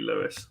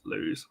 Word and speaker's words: Lewes: believed me it's outrageous it is definitely uh definitely Lewis not Blues so uh there we